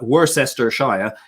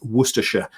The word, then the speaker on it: Worcestershire: in north america who really struggle with um uh worse esther ashaya is a very common mispronunciation it's worcestershire and so which the worcestershire